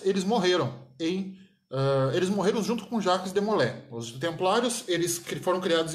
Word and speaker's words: Jacques de Molay: Os templários, eu digo mesmo com relação a eles, o Jacques de Molay, o pessoal chama muito de Molay, né? Mas a pronúncia certa é de Molay.